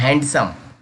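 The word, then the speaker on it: handsome: हाउ टांग हैंडसम यहां पर लौटना पड़ता है हैंडसम क्योंकि एप्सलूटली रोग है हैंडसम हैंडसम ए हेड़छ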